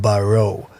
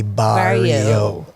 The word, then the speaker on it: Barrieau: Because without the I, it would have been Barrow. Yes, but with the I, Barrio. Yes. Now you got it right. Because E-A-U is pronounced O.